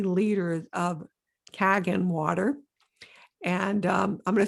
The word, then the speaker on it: Kangen: So therefore the Kangen water, did I say it right, Debbie? Yes. Kangen, Kangen.